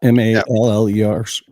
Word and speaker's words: Mallers: Yeah, Mallers.